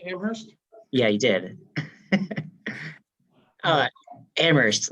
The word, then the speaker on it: Amherst: yeah he did uh Amherst uh sorry um where the H is silent exactly oh yeah but